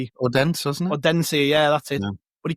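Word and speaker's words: Odense: abbreviated as OB signed by me Odensi.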